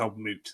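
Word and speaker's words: Old Mout: I think it's old moot, to pronounce it.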